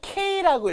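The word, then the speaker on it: 軽: 차도에 토메떼 세워져 있는 경을 K라고 읽어요.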